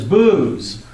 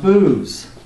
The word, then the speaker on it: Buz: the second one is booze yeah yes pronounced booze like alcohol huh and so has